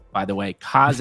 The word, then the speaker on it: Kaze: Do it for Kaz, not K's, by the way. Kaz is how you pronounce it, people.